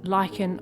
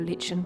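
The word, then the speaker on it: lichen: shredded paper and then put some Lykan on the top or Len depending on how you pronounce it I'll pop a link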